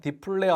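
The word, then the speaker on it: dplyr: 디플레어 어 디스플레이의 약자이고 R은 보통 패키지 이름을 R로 시작하고는 R로 끝나요. 그래서 완전히 읽을 수가 없는데 저는 그냥 디플레이어 R이라고 읽어요. 사람마다 읽는 방식이 다르긴 한데 저는 어 디플디플레이어R이라고 읽습니다.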